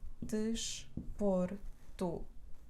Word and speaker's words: desporto: penúltima que dela o desporto desporto tu é a última sílaba por é a penúltima então o acento recai aqui cansado que dela desporto